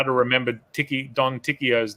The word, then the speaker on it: Ticchio: Yeah, because everybody seems to pronounce Pinocchio correctly, but my name was always Ticchio instead of Ticchio, like Pinocchio.